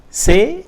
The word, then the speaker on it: c'est: C'est apostrophe est. It's pronounced as c'est.